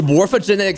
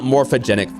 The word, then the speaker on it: morphogenetic: Fields by the way it's morphogenetic Fields not morphogenic Fields I've been saying it wrong the entire time for some reason I just like dropped one syllable somehow from morphogenetic it just